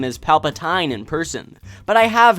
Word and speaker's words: Palpatine: never heard someone pronounce Palpatine's name as Palpatine in person but I have heard some stories so just make sure that you pronounce the end of his name as teen not tined while most people just